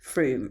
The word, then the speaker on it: Frome: Rome wasn't built in a day or should I say fro wasn't built in a day. Although actually I know that it's actually pronounced Froom and I know this because my friend Alexander sniffily told me.